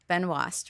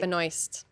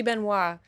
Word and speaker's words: Benoist: I think you pronounce it Benoast, right? Benoy. Benoy. It should be Benois.